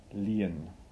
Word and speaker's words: lien: and by the way the word is pronunciate 'add lien not lien Ling you lean on me or you lean on the tree lien okay so firstly you get